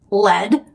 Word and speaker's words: led: The past tense of lead is pronounced lead, but it's spelled L-E-D.